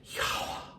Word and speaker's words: Yahweh: It's the same extrapolation of the same tetragrammaton from Yahweh or YHWH. But probably the most accurate pronunciation I've been taught was Yahweh.